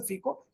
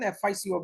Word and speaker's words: FICO: European La you know Europe they call it as in FICO in U.S they'll call it as a fecal and we can use any other terminology like free core whatever but normally I pronounce it as an FICO because it's an abbreviation again fi is nothing